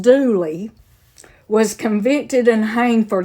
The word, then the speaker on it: Dula: A man named Tom Dooley, D-U-L-A, pronounced Dooley, was convicted and hanged for the crime.